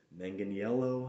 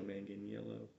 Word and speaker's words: Manganiello: moyer mangano the werewolf manganiello i think is how you say his name joe man getting yellow so i've really only